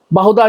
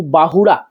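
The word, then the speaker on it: ବାହୁଡ଼ା: meaning बदल जाएगा completely बहुदा यात्रा बहुदा नहीं होता है बहु बाहुड़ा तो प्लीज जब आप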